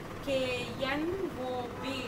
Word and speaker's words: knob: Which letter is silent in this word? K. Okay, we should not pronounce K letter. But now, what is the pronunciation? K-N-O-B. Knob. We pronounce only knob. Don't pronounce knob, knob. K-N-O-B. Knob. Here, K is silent letter.